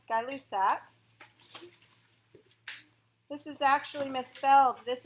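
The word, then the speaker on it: Gay-Lussac: last gas law called guy loose AK this is actually misspelled this is an a it's pronounced like guy but it's spelled like gay it's a French name so in English G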